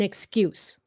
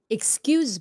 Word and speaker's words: excuse: and always has an excuse excuse s sound at the end excuse and then the other one which more people know is excuse me what time is it excuse z sound modminla excuse excuse looking